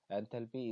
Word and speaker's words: enthalpy: As for pronunciation, entropy is usually stressed on its first syllable, while enthalpy is usually stressed on the second. देखिए enthalpy is the sum of